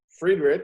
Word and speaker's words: Fredenrich: Emmanuel Friedrich, is that how I said it right? You did it right, man.